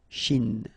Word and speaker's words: Chine: Remember, don't insist on the E. Chine. Okay? And then this CH, sh, Chine.